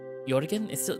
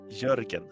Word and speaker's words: Jörgen: Jorgen? I'm still pronouncing it wrong. Jorgen? Jörgen. Think like Jorgen. That's closer. Closer.